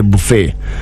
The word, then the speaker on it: buffet: T igakorwo is silent. Ne B U F E T.